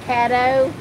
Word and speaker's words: Caddo: Because we're staying in this little part of, it's not really Arkadelphia, it's I call it Cato, but it's called Caddo.